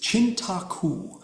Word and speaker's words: Cintaku: And so the pronunciation is Cintaku. And it is an Indonesian word.